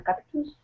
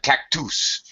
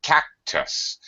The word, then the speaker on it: cactus: Okay, I didn't understand you at first because you said cactus, but it's cactus. First syllable stressed. The second syllable is just a schwa sound.